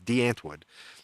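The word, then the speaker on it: Die Antwoord: de anwood de antwood it's spelled die antwood if you're in America but it's de antwood and there's some weird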